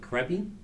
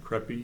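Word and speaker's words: Khepri: names to pronounce but creppy sounds like k h e p r i creppy yeah yeah um the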